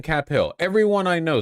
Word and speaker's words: Cap Hill: It's pronounced Cape Hill? No, the fuck it isn't. What the fuck are you talking about? Don't say that.